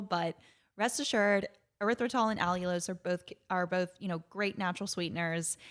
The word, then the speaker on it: allulose: It's one called allulose, and I'll spell it. It's ALLULOSE, so that y'all don't hear us talking about it the whole time, and you're like, what are they saying?